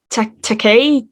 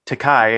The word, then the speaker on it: Takei: uh pronounce it as takai and he goes that means hooker in japanese he's there he says no it's it rhymes with toupee and he goes oh